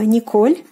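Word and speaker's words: Николь: Nicole it is uh Nicole in Russian so Nicole there's no like soft sign in English pronunciation but in Russian we have to use the substance in the end and making this name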